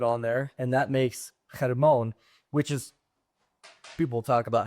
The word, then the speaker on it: Hermon: Hermon. That's how you say it in Hebrew.